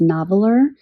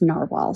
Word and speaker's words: Narwhal: clarified for me that even though this is spelled and how I would pronounce this phonetically is noveler, it's actually pronounced narwhal.